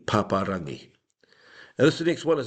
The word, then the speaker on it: Paparangi: It's often people who are looking at it in terms of English language syllables, pap, a, rang, e. No. What we do is we break it up, stop at the vowel. Pa, ra, ngi, paparangi.